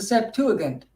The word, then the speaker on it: Septuagint: Or as I listened to Stephen Pigeon yesterday, he calls it the Septuagint. I never heard that before. Have you guys? Have you ever heard it pronounced with the G as G really should be pronounced anyway?